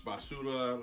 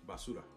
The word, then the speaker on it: basura: everybody was like, trash, basura, like, don't mess with them. Say it again. How you say that? Basura. Basura? Yeah, that. Basura. Basura? Or like my boy, Basura. You gotta roll your R's, dog.